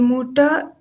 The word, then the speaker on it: Mutter: She is not pronouncing the alphabet R or air. She's not saying doctor, the motor. She's just saying, she's just leaving it, not saying it at all.